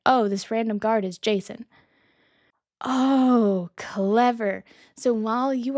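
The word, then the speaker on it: Jacin: I didn't think it was pronounced Jason at first because it's spelled J A C I N. But that's me in the English language not being friends.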